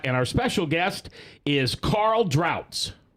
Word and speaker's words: Carl Drautz: our special guest is Carl droughts did I say it right you said it right that is German isn't it it is it is German absolutely and uh Carl